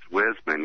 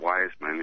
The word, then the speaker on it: Wisman: And he says, it's Wisman, not Wiseman. If you're going to say it right.